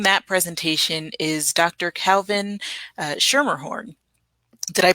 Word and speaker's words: Schermerhorn: Calvin Schermerhorn. Did I pronounce that correctly?